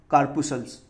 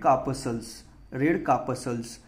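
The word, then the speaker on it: corpuscles: which blood lakhs red कार्पसल्स, ठीक है, इसका प्रोनाउंसिएशन कार्पसल्स होता है प्रोनाउंसिएशन, ठीक है, यानी वहाँ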